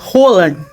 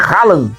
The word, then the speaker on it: Haaland: Acabo de descubrir que la pronunciación del nombre del jugador noruego no es Rallan, como decíamos, es Rolan, que en Brasil se convierte en rola, ¿verdad?